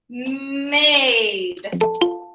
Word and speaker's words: made: You don't hear it. Aid, made. Trade, trade. Ache, wake.